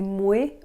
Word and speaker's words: moé: Est-ce que vous avez remarqué qu'elle a dit « moué » au lieu de « moi »? C'est une prononciation québécoise et canadienne.